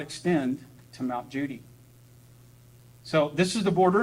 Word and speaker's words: Cudi: The name Judy is spelled Cudi because it means the highest.